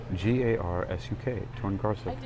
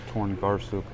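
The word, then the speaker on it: Torngarsuk: Jordan Garcia spelled t-o-r-n-g-a-r-s-u-k torn Garcia that's how you think it might be spells like phonetically I don't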